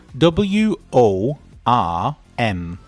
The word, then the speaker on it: worm: The first word is wo r m and the second word is w a r m. The pronunciation is totally different.